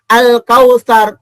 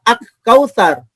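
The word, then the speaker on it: الكوثر: Begitu juga bacanya al-kautsar, enggak baca ak-kautsar.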